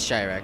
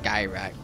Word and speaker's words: Shyrak: It is Shyrak. Okay, I thought it was Skyrak for a second there.